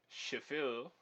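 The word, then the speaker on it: Schaeffer: different timbre the auburn composer pronounced chauffeur using your best imitation of a french accent shephel performed some crucial experiments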